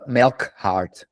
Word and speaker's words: Melchard: But in the US, they pronounce it in the US they pronounced it Melchard, like a combination of milking and hard. And it's almost right.